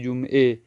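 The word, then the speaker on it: جمعه: اور فارسی میں اے، جمعہ ہم پڑھتے ہیں لیکن فارسی میں پڑھیں گے جمعے۔ اسی طرح مدرسہ اردو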